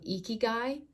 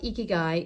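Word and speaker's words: ikigai: I recommend looking up the Japanese concept of igy um I Ki G AI is how you spell that look up eeky guy and just kind of look through the different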